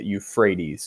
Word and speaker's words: Euphrates: that word it may not actually try to pronounce it that way but that is how you say euphrates so tigris euphrates and they together uh create